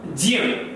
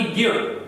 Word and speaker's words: ज्य: आगे देखते हैं हम ज्य, इसे क्या बोलेंगे? ज्य, ना कि ज्ञ। इसे कोई भी ज्ञ नहीं बोले, इसे क्या बोला जाएगा? ज्य, क्योंकि ये शुद्ध उच्चारण है ज्य।